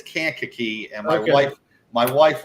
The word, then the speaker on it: Kankakee: tackle in America from can cocky Illinois that's that's listen it's Kankakee and my wife my